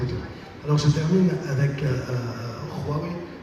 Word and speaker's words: Huawei: Alors je termine avec Huawei. Il faut bien prononcer avec un bon Kha chinois.